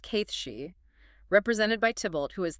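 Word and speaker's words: Cait Sidhe: Pronounced Kithshi, represented by Tibultt, who is the powerful king of cats, and his courtier Raj.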